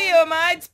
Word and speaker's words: Fiomide: to Fiomide's Patron portal.